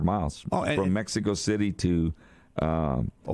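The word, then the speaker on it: Ohkay Owingeh: Over 1,600 miles from Mexico City to Okeowenge. That's how you say it.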